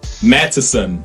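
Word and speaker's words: Matteson: though confusing to some Madison is pronounced with three syllables not too clearly as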